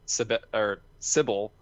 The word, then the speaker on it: Cibele: to, but I did play through Cibele, which Sybil. was sure. That's how the creator pronounced it in a podcast I listened to ages ago.